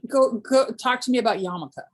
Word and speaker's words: yarmulke: So go talk to me about yarmulke, like fun, which has an R in it when you write it, just so you know.